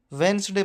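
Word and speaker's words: Wednesday: पर साइलेंट रहता है हम ज्यादातर वेनसडे पढ़ते हैं वो वेनसडे रंग होता है क्योंकि वे में डी साइलेंट रहता है वेनसडे बोला जाएगा हैंड करर चीफ नहीं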